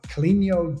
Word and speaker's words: Caleño: It's Caleño, so it's the tilde over the end just gives it that extra ño. It's a Spanish name. Caleño.